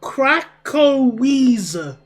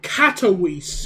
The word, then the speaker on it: Katowice: So, Krakowise. So, Katowice. Alright, there we go. Katowice. That's how you say it.